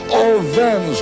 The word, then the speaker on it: Owens: crowd of 120,000 shouting, "Oh, Vans, all Vans, all Vans." The W in German pronounces a V. And they were all shouting in unison, "Owens!